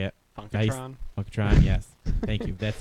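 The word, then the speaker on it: Funkotron: funkon I think that's how you say it funkatron funkatron yes thank you that's well you're the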